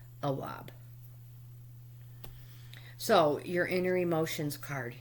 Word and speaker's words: Awab: And I know I just pronounced your name improperly. I apologize. It's Awab.